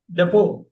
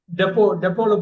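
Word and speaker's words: depot: ஓ இல்ல, டெப்போ. டெப்போல போய் இது எடுத்துருவா அப்படிம்பாங்கல்ல. கிடங்கு, கிடங்கு, கிடங்கு. டெப்போங்கிறது பிரிட்டிஷ். டீப்போ அப்படிங்கிறது அமெரிக்கன்ஸ்.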